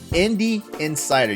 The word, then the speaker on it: Indie Insider: The Indie Insider. You have to say it right, or it sounds like Indian cider.